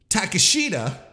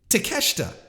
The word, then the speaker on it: Takeshita: things correctly you know gone are the days of calling them takashida it's to cash it it's takeshita it's not shinsuke it's shinsuke